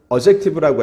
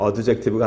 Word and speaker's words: adjective: 형용사는요, adjective라고 해요. 이 D를 발음은 안 해요. adjective가 아니고 adjective.